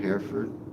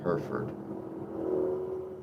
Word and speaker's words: Hereford: For us, it's like the word her and Ford. Hereford. Her and Ferd. Hereford.